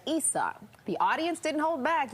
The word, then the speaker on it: Issa: She was being asked questions by an executive at Amex who called her Issa instead of Issa.